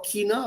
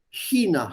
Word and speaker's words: China: Man sagt auch China, aber das ist nicht richtig. China heißt das. Genau wie bei der Aussprache von ich. Ich. The same sh is used here.